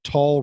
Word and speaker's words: Tull: mention Anderson's warbling lyricism remember tall rhymes with doll Wow I again wore